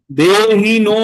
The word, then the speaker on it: দেহিনো: দেহিনস্মিন যথা দেহে, এই যে হ লেখা আছে, হয়ের মাত্রা না থাকলে অ পড়তে হয়। হ্যাঁ, দেহিনো, ওই নো, দেহিনো, নো যেখানে দেহিনো লেখা আছে তো ওই নোটাকে লম্বা করে দিলেই হয়ে গেল।